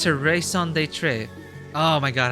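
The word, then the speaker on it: raison d'être: And it's her raison d'etre. Oh my god, how do you pronounce that again?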